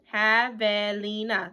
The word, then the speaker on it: Javelina: Javelina. There we go. That is how you pronounce it.